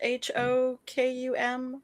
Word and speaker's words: Hokum: saw something recently actually called I think it's Hokum it's pronounced H O K U M Hokum um and it's it's it seems very